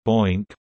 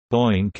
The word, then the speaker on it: BOINC: The Berkeley Open Infrastructure for Network Computing (BOINC), pronounced, rhymes with oink.